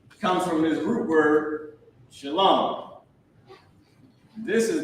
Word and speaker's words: Shalom: someone's breath or it's like the word Shalom like people mess up this word and say shalawam right they mess up and say shal comes from this root word Shalom this is not how